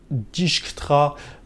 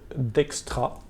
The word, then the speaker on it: Dijkstra: dans la dernière vidéo j'ai prononcé discutera plusieurs fois alors apparemment c'est une erreur de ma part puisque la prononciation officielle et a priori d'extra je vous je vous